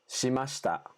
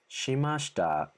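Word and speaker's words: しました: shita shita it's almost like the eye is barely there stop shimashta shimashita that's what happens when you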